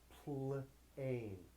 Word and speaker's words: plane: silent e PL flip silent e makes it say a plane plane plane if I take off that silent e it says plan plan now it says plane the silent e tells the a to be long it says a now this is another